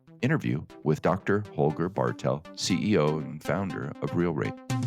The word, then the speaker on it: Holger Bartel: I would pronounce it like Holger Bartel. There you go. Just a little more emphasis there at the front, at the first That's syllable.